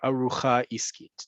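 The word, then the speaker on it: ארוחה עסקית: little bit of time, is the arucha iskit or arucha iskit, depending on how you say the letter resh.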